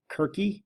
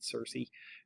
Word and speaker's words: Circe: greek spellings of names so cersei's name as you'll see right here is kirky which would sort of be how it would be pronounced in ancient greek we're not going to worry about that we'll just read cersei for continuity sake and because everybody refers to as cersei nobody's like kirky um even if it's